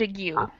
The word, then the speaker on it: ague: So that would be plaque and ague. Plaque and argue. Mhm. Plaque and argue. Argue. This part is different. Yeah, very different. It rhymes with the word you, right? But the letters are totally different.